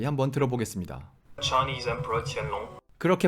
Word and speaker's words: Qianlong: Chinese Emperor Qianlong. 그렇게 발음한다는데 우리는 그냥 걸륭제라고 하겠습니다.